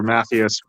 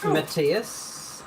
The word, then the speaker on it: Matthias: his name is um Matthias or Mathias rotten Matthias is usually how you pronounce it Matthias I mean